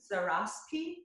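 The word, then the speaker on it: Zaraspe: The Hector, is this how you say the name, Zaraski?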